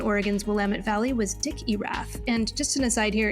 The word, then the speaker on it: Erath: willamette valley was dick iraf and just an aside here in case you're curious that's spelled e-r-a-t-h kind of like earth just moved that r up a little bit earlier so within the oregon